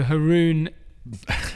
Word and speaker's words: Haroon: pronunciations, and I could just go with the local version. So Haroon is the local version in the UK.